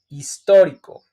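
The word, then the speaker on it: histórico: as you can see we have the accent in O for that reason I make the emphasiz strong emphasiz when I pronunciate in Spanish for example historico historico or hisor hisor historic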